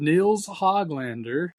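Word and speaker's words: Nils Höglander: So the Canucks have re-signed forward Nils Hoglander.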